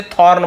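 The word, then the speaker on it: thorn: क्या होता है कांटा थ्रोन नहीं है थ्रोन यानी क्या होता है थ्रोन का मतलब होता है सिंहासन राजगद्दी और यह थोर्न है दोनों में अंतर है थ्रोन और थोर्न में ये थोर्न यानी होता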